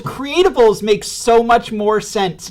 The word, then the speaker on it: Creatubbles: makes thinking that they know exactly how to pronounce things um in calling it create doubles creatables make so much more sense now now that